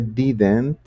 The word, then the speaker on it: didn't: Y has hecho una pronuncia muy buena porque de hecho en un inglés muy americano ese didn't, ese didn't, esa última d o esa segunda d suele convertirse en una r cuando estoy haciendo la pronunciación.